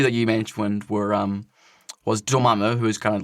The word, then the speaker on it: Dormammu: Mordo Dormammu.